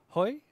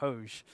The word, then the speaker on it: Hoj: Uh before I was even knew his uh the correct pronunciation, I called him Hoj. That's how I kind of read it. And uh I've been corrected now. And it's Hoy.